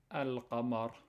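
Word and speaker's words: القمر: It says al-qamar. Al, you have to pronounce the lam, right? And you have the sukoon on top of the lam.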